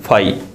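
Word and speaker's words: φ: इसको क्या बोलते हैं, फाई। मैं यहां लिख देता हूं स्पेलिंग, आपको बोलने में आसानी रहेगी। इसको क्या बोलते हैं, फाई।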